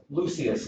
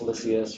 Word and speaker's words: Lysias: Claudius Lucius, and that's the way they would pronounce it back then. We would say Claudius Lysias or something like that, but it would be pronounced back then Claudius Lucius.